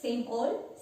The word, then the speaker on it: same old: It's just same old, same old. When we pronounce it, that D is silent.